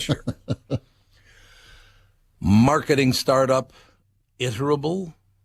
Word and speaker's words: Iterable: not sure marketing startup iterable i terrible how would you pronounce is it iterable don't know that one i-t-e-r-a-b-l-e iterable i'm going with iterable incorporated dismissed its chief